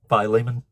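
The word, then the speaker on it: Philemon: Uh about Filimon. Uh is that how you say it? Filament. Phileimmon.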